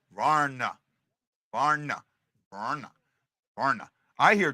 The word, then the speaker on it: Vrana: I hear 2 syllables. Vrana. Just like I've been saying it. Not Varana. Not Varana. Varna.